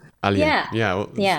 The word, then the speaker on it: Aliyah: It's pronounced Aliyah, right? Aliyah. Aliyah.